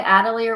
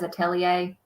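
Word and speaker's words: atelier: you say it yeah people say adier when I looked it up it says atellier so I don't really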